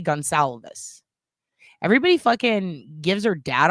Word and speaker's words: Goncalves: Okay, that's how you say it. Gonsalves. All right, perfect. Thank you. Because I've always, is it Goncalves? Goncalves? I've heard people pronounce it totally differently, but I like saying things correctly.